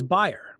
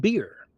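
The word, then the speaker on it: bier: And there'll be things that I just got a retake on a word, B-I-E-R, which I always thought was buyer, but it's pronounced beer.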